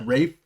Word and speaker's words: Ralph: His name is Ray Fiennes, and it is spelled Ralph. Ray Fiennes. I don't know Oh, if it's yeah. pronounced Rafe or something, but Oh, it is.